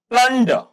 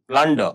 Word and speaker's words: plunder: Then plunder, plunder, R silent है।